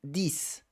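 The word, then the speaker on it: dix: O número isolado dis, tá? Então essa pronúncia com som de s no final dis.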